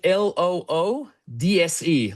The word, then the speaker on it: Loodse: And Uh Loodse, so it's it's spelled like l o o d s e, Loodse.